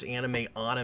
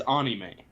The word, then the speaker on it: anime: But it's anime. They don't have an noise. So it's not anime. Or anime.